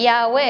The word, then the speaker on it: Yahweh: Conocemos que Yahweh es el nombre, la pronunciación del nombre del Todopoderoso en hebreo.